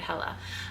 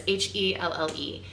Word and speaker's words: Helle: Her name is Hella, by the way. I think that's how you say it, Hella. It's Helle.